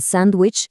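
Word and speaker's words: sandwich: Esto explica por qué en sándwich casi nadie pronuncia la D o porque en next week la T del medio se vuelve muda.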